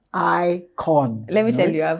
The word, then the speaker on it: IKOJN: So now you know it's the icon. J is silent.